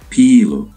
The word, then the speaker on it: Pelé: 29 December 2022, better known by his nickname Pelé, Portuguese pronunciation, Pelé, was a Brazilian professional footballer who played as a forward.